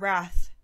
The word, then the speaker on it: Rath: Instagram and she goes It's pronounced just like the word wrath it's German summon me